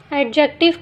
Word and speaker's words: adjective: तो friends, एडजेक्टिव में D silent है, इसको हम एडजेक्टिव पढ़ते हैं। डी लिखते तो हैं लेकिन पढ़ने में ये साइलेंट है।